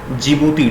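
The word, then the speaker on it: Djibouti: जिबूती। D silent होता है। जिबूती।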